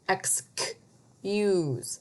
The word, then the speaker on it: excuse: Now, look at this C. Is that a soft C or a hard C? Excuse. That's a hard C. Why is it a hard C? Because there's a U that follows after it.